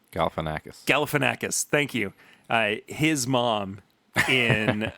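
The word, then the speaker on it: Galifianakis: galfan why can't I say his name galanakis galanakis thank you his mom in um the clown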